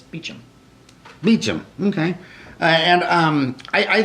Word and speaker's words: Beauchamp: week it is so there's two ways of pronouncing my name Beechum is the correct English pronunciation in Beauchamp is the correct French pronunciation so today's Friday it's Beecham Meacham okay and I